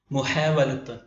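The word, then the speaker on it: محاولة: അടുത്ത ഉദാഹരണം മുഹാവലത്ത് മുഹാവല മുഹാവല. അവസാനത്തെ തായിനെ ഉച്ചാരണത്തിൽ വരുത്താറില്ല, എഴുത്തിൽ മാത്രമാണ് വരിക. മുഹാവല ശ്രമം, പരിശ്രമം, എഫേർട്ട്.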